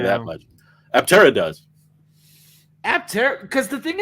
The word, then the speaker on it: Aptera: Aptera, 3 syllables, 3 wheels.